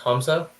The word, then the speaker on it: Hamza: It's actually pronounced Hamza. I know it's spelled with an A. It should be a U there. You can ask my parents about that. So I am a fourth